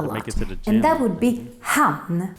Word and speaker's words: hann: And that would be han. Don't mix it up with han, even though it's pronounced exactly the same. We just add an extra n for han. Let's look at some examples.